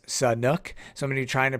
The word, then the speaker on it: Sanhok: how you pronounce San honk and it's actually pronounced Sun nook so many trying to pronounce that correctly throughout